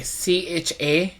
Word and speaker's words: Chawla: But if you convert it to English, the You'd say CHAWLA. Chawla. Yeah, you'll say Chawla. But the W is pronounced as a V. Because the character in Hindi is V.